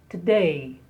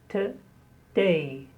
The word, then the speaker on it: today: Today. Today. Today. Stress on the day.